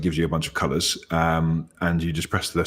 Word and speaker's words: Coolors: I'm guessing it's supposed to be said colors though. That sounds much better.